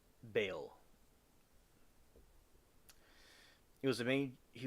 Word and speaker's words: Baal: talking about is about B or what's pronounced Bale.